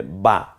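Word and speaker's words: ب: দেই তাহলে হয়ে যাবে বা আমার সাথে বলুন বা বা টা উচ্চারণ করার সময় স্বাভাবিকভাবে এই ঠোঁট এবং নিচের ঠোঁট পেটের দিকে ঠোঁটটা চলে যাবে উপরের ঠোঁটের উপরের ভাগটা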